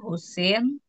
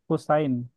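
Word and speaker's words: حسين: Baid Siti ee Yaktubu Husin itu dibacanya Husain.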